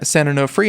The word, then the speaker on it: San Onofre: Google San Onofre nuclear power plant. San Onofre, California. I will have to Google how to spell San Onofre, and then I will find that.